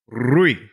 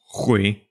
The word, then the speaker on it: Rui: Ok, mas agora diz o meu nome corretamente. Olá, Rui. Rui. E como é que a tua mãe diz o meu nome? A minha mãe diz... Ru. Ela tem 5 formas diferentes de pronunciar o teu nome e estão todos errados.